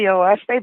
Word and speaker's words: Oahspe: It's spelled Oahspe, and it's actually 3 syllables, which stands for earth, sky, and spirit.